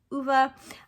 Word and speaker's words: Ove: so I do know that his name is pronounced UVA um this was also just made into a